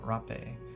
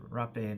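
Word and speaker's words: hapé: So another um tool during such as like pawashka ceremonies and different um South American ceremonies is uh rapacito or rape and it's spelled h a p e and basically it's a uh and I'm not promoting tobacco to anyone.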